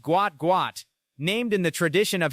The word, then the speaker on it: Gout Gout: His name pronounced Gout Gout, named in the tradition of his South Sudanese heritage where a name is repeated for emphasis and identity.